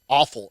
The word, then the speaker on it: offal: Awful. It's literally, it actually sounds more like awful.